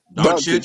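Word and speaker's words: Dončić: How you guys say it? Doncic, you said it right. Yeah. Doncic, No, I mean, you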